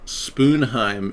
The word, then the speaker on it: Sponheim: It's actually pronounced, believe it or not, it's pronounced Spoonheim in some countries, like in Norway, where my family came to America as an immigrant on my father's side in the 1860s from Norway, and originally they were from Germany.